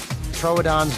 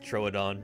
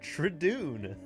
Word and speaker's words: Troodon: fell out of my chair laughing when she pronounced Troodon tridoon and uh it's that Meme is taking on